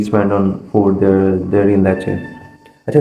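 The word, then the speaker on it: Lecce: सो how much monthly a student usually spend on food there in लेचे। अच्छा, city का नाम लेचे है, pronounce अपना ठीक करना, ठीक है तो फूड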